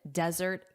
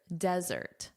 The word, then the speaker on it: desert: Notice here desertz. So, you want that zz sound, that buzzing like a B. Z. Desert. Desert. And let's compare this against chocolate or sweets at the end of a meal, which is of course, say it out loud, dessert. Dessert. Dessert. Desert. Sand. Dessert. Sweets. Desert. Sand. Desserts. Sweet. So remember that pronunciation difference.